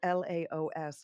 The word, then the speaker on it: Laos: that you made in laos am i pronouncing that correctly you are correct yes thank you that's l-a-o-s laos and that is um